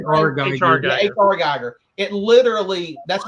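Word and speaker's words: H.R. Giger: H.H. Geiger? Is that how you say it? H.R. Geiger.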